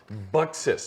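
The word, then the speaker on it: Buxus: some of the partners about this is called bixis let me uh scroll on back to make sure i i say it properly boxes i'm sorry b-u-x-u-s and i ended up downloading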